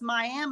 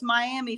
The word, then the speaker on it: Miami: talking about Oklahoma it's miam Oklahoma but if you're talking about Florida it's Miami Florida how do you how